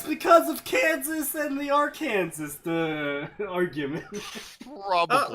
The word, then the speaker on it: Arkansas: Arkansas might have the dumbest one I've looked at tonight. You must pronounce the state's name correctly. Arkansas.